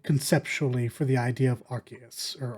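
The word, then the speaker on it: Arceus: was really excited conceptually for the idea of archus or arus or I still don't know how to pronounce that Pokemon RCS yeah it is RCS okay yeah um I I was really keen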